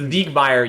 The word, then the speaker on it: Siegmeyer: Okay, so Siegmeyer you pronounce with a Z sound, a Z sound.